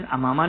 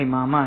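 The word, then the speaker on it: عمامة: लेना, जैसे इमामा, यानी असल प्रोनाउंसिएशन अमामा नहीं है, इमामा है, इमामा चूंकि सर को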